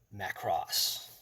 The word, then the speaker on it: Macross: to pronounce it correctly so it's it's Macross so Macross I was saying it in the wrong way so this is the